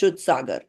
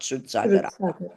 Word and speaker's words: Shrutasagara: His Dipali, scholarly remember I said the A at the end is not to be pronounced as A. So it's just Shrut Sagar, not Shrut Sagara.